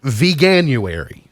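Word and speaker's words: Veganuary: like that let's see I think I put an extra syllable in it's vegan uary began you ever began you airy it's vegan meets January V January I actually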